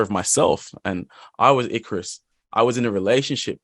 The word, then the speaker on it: Icarus: So tell me more about this song, Icarus. Is it correct? My Oh, yeah.